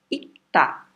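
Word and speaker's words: 읽다: A pronúncia dele vai ser ita, né? Tá aqui. Porque o Rzinho ele é um pouco mais fraco do que o K.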